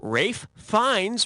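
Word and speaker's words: Ralph Fiennes: malz or cha Bei Rafe fines rhymes with safe Pines yeah he was great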